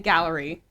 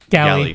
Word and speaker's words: galley: I'm gonna go to like the opening of how is it pronounced? Because I keep saying gallery. Galley. Galley. Okay, Galley.